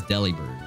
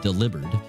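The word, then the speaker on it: Delibird: I I know his everybody says deli bird, right? I like to say deli bird, but it's it now that I've been informed that it's actually meant to be pronounced delibered, it's really hard for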